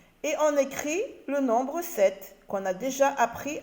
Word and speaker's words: sept: on écrit le nombre 7 qu'on a déjà appris à écrire cette qui s'écrit septe avec un p et qui est une oeuvre lettres muettes d'accord dix sept pour